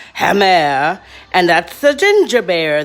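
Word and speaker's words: gemmer: speak this language but this word g-e-m-m-e-r is pronounced hammer and that's the ginger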